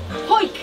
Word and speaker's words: Howick: Howick to... Howick. Do you know how to say it? Howick. Danny, tell him. Hoik. Hoik. Is that how you say it?